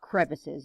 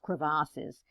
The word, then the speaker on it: crevasses: these deep cracks it's it's kind of a french term it's uh cravassus you know it's not just crevices it's pronounced crevasses and so there are